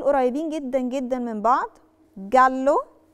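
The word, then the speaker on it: giallo: جدا جدا من بعض جلو جلو جلو جلو نطقت تجلو مش جالو علشان احنا اتفقنا ان لو في للوتر وبعدها في بكاء انا ما بنطقش خالص طلعت رقيق فعلشان كده الكلمه بقت جلو مش جالو جالو اللي هو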